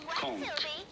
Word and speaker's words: conch: there is a K sound instead of CH.